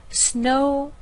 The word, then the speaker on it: snowboard: And of course here we don't have snowboard, where you're going to stress the word board. You need to stress the first word of the compound noun. So we'll say snowboard.